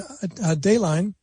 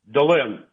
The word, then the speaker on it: Delin: No, it's okay, Delin, but it's mispronounced all the time. So how do I get it right? Delin.